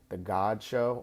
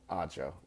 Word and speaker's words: Odd Show: Odd Show. The G is silent. So he says that in the tagline, but I keep on pronouncing it God Show. But it's the Odd Show.